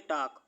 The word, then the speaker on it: talk: बात करना की स्पेलिंग होती है टॉक, तो लिखेंगे टॉकिंग, TALKING। ठीक है, इसे पढ़ते हैं टॉक, टॉकिंग, क्योंकि इसमें एल साइलेंट होता है।